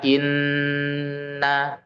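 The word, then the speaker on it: إِنَّ: Ghunah musyaddadah sendiri adalah ketika ada nun tasydid atau mim tasydid dibacanya ditahan dulu dua sampai tiga harakat. Contohnya inna.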